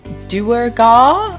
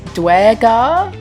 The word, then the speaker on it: Duergar: I googled it and apparently there are two canonical pronunciations. One is Duergar and the other is Duergar.